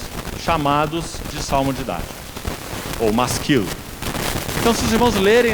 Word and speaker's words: masquil: na parte superior, de masquil. Você vai ver aí talvez uma tradução para o português, M-A-S-Q-U-I-L, masquil. A palavra hebraica, a pronúncia dela é masquil, que simplesmente significa salmo didático.